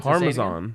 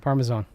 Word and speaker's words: Parmesan: I may have misheard, but I recall Mace having a different pronunciation among a Z, or favoring a Z sound in place of an S.